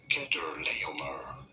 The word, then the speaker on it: Chedorlaomer: How do you go about pronouncing it? Kedorlaomer. Once you know Kedorlaomer.